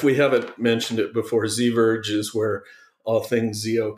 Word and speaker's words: Ziverge: I like your alternate pronunciations, but I think it's like diverge. So I'm guessing ZIVerge. Oh, but you know, maybe right. ZVerge, you do that, like Scala Z.